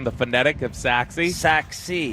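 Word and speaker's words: Sachse: pronunciation the phonetic of saxi saxi because it doesn't necessarily look like the way you'd expect it to be pronounced s a c a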